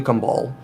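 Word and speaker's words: Kambal: So we had saying for the new Kumbal, or Kumble, depending on the pronunciation you want to use.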